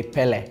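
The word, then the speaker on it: Pelé: yeah but like the the last e is really strong like we do like Pelle I think the last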